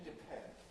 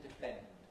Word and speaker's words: depend: With aspiration, depend. Without aspiration, depend. Which sounds right? Depend. With aspiration. Depend. Depend. And not depend.